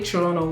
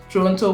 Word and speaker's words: Toronto: you are a local person, you probably say Toronto, which is the ideal pronunciation. But for the sake of this video, I'll be referring to it as Toronto, which is the most popular pronunciation.